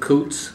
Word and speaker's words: Coutts: I'm Coots, C O U TS. It looks like couch so it gets mispronounced, but um born in um Dearborn, Michigan and lived on Fernie.